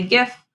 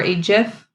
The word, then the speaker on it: GIF: animated picture known as a gif or H if there's a lot of contention out there on how you pronounce that I say gif myself um but that's just me so this is an